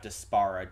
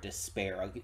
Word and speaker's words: Despera: Okay, yeah, so the person at the end wasn't Shadow Weaver, it was Despera, which that's probably how it's pronounced, not Despara, Despera.